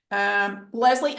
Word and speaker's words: Lezlie: Lezlie, am I pronouncing it correctly?